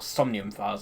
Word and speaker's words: Somnium Files: Or Somnium Files, that's how you pronounce it.